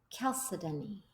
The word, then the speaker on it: chalcedony: he also had chalcedony they said the correct way to say it according to the dictionary not my name Melissa's is chalcedony chalcedony I picked that one